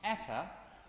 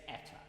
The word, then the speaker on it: Eta: I'm going to think, as an English speaker, I'm going to think of the word day. So I've sung dan, I'm now going to sing day, day, day. It's eta, for those of you